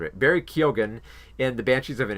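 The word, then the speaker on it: Keoghan: in the Fable men's uh Barry co uh kilgan I keep mispronouncing it Barry Keogan and the Banshees of an ashiron and Ki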